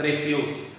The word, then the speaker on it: refuse: मतलब होता है इनकार, लेकिन इसका एक प्रोनाउंसिएशन और भी है दोस्तों, रेफ्यूज। जब हम इसका प्रोनाउंसिएशन करते हैं रेफ्यूज तो इसका मतलब होता है कूड़ा करकट।